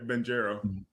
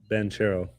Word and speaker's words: Banchero: It's not Banchero. Banchero.